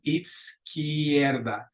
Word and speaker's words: izquierda: A la izquierda de. And let's repeat that one a couple times. Izquierda. Izquierda. So the Z is going to almost have like a TS on. Izquierda.